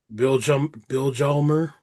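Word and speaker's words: Vilhjálmur: Bill Jalmer.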